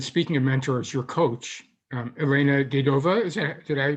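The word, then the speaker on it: Elena Davydova: And speaking of mentors, your coach, Elena Dedova, did I pronounce her name correctly? Dedova, yes.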